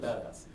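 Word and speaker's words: BDAS: I said it nevermind it's BPA as we pronounce it badass okay and and if you look at badass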